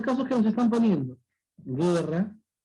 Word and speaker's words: guerra: Mira, yo pronuncio guerra. ¿Se está pronunciando la U? Nada. Guerra. No se pronuncia la U.